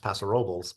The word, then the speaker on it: Paso Robles: Los Angeles it's pronounced Los Angeles uh it's pronounced pasor Robel because that's how we do it or just